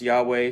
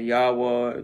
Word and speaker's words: Yahweh: h w h uh some pronounce yahweh some pronounce jehovah or jehovah some say yahweh there's different pronunciations i say yahuwah yahuwah and it's all just uh you know it's all just variation of pronunciations you know there's uh